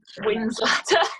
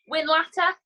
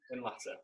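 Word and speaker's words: Whinlatter: Winslather. Is that it? You're there-ish, yeah. How do you say it? Winlatter. Winlatter. What we did, went for like 3 hours there, and then we went for a swim.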